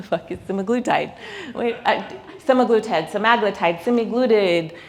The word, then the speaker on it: semaglutide: Semaglutide, semaglutide, semaglutide. We hear every pronunciation. Well, this is semaglutide, and it's beautiful.